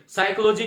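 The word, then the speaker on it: psychology: साइकोलॉजी की meaning साथियों इसमें जो P है वो साइलेंट रहता है, जो अक्सर साथी हैं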